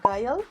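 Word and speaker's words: 가을: que es el otoño, que en coreano se pronuncia Gyeol.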